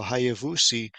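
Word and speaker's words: היבוסי: group of people that in English it's jebusite but again there's no J in Hebrew so it's uh Hayes vouchi so hayavusi is the name and so you see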